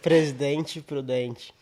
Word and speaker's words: Presidente Prudente: say it one more time for all the viewers that can't pronounce it. Presidente Prudente.